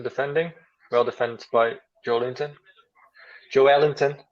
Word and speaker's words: Joelinton: Joelinton, as they say in Brazil.